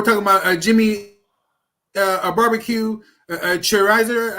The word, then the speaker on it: Cherizier: I mean, so we're talking about Jimmy, a barbecue, Cherizier, I think is how you say his name. Am I saying that right? Cherizier. Cherizier. Yes, sir.